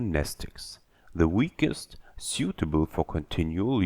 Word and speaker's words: Mnestics: Mnestics. Class W, X, Y, and Z. Same Greek root as the word mnemonic. The M is silent.